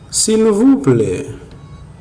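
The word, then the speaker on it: silvouplè: favor acéptame si vamos en el creol se pronuncia así silvuple acep silv acep no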